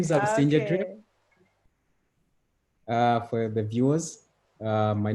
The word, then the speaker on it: Busingye: Well, my name is Busingye. Okay. For the viewers, my name is Busingye, and the co-founder of Crown Agro Initiative